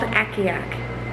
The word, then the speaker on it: Akiak: It's about a dog sled team, and it's called Akiak, A-K-I-A-K. And yes, I did have to Google the pronunciation of the name because I had no